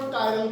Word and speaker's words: chiral: चलो जो चायरल कह भी दो, चिरल तो जमे नहीं कहना. मतलब ये ना हो भी टेस्ट वाले दिन तो चिरल कार्बन मतलब प्रोनाउंसिएशन शुड बी करेक्ट, ठीक है. So this is called कायरल carbon, ठीक है.